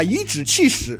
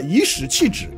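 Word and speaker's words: 颐指气使: 科绿玉，把颐指气使读成了颐使气指。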